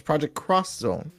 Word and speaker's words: Project X Zone: later found out that the x is cross so it's project cross zone japanese is weird that